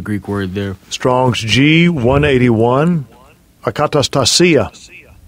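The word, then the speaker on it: ἀκαταστασία: So when you go into that word commotions, I always have trouble pronouncing the word, the Greek word there. Strong's G181. Akatastasia. Akatastasia.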